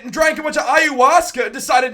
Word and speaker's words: ayahuasca: Am I pronouncing it right? It's ayahuasca. Ayahuasca, yeah.